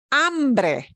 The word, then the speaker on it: hambre: And the word is hambre. Hambre. Hambre. If you get your vowels right, you'll always pronounce this hombre. Hombre. Those two words are different by one letter.